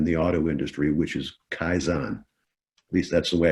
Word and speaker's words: kaizen: a lot in the auto industry, which is kaizen. At least that's the way I heard it pronounced.